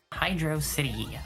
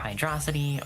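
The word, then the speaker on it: Hydrocity: Um, but now we are into maybe we've got Hydro City or Hydroity or however you pronounce it. I personally pronounce it hydro city just because I feel like it rolls off my tongue personally uh a little bit better than the alternatives.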